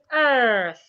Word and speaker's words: earth: But the earth that we are in is pronounced earth. It has th. Your tongue must be outside as you get to the th sound.